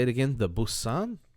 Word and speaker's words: Boatswain: The Boatswain, Bosun.